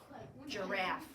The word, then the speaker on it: giraffe: Giraffe. Yup. Not a silent. It's not a suffix. It doesn't say g. It says j.